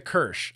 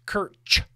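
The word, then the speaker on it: Kirsch: It's pronounced Kirch with a hard ch.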